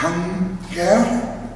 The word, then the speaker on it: Hang-tér: Es heißt Hunger. Ist richtig ausgesprochen?